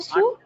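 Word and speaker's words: sous: The last S is silent. Yes. Because it's the only alphabet coming after this particular OU combination. OU combination. Is the meaning of Su?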